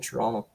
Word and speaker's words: Toronto: a true Canadian when you didn't pronounce the last T in Toronto toron Toronto where are